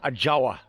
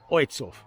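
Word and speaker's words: Ojców: to a place called Oitzhof. Oitzhof. Okay, if you English and you try and pronounce it the way it looks, it looks like Ajawa. But in Polish it's pronounced Oitzhof.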